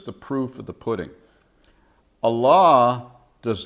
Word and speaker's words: Allah: start right off with Allah okay some like to say Allah some say Allah okay what and who is Allah my Muslim friends pronounce it Allah I do have some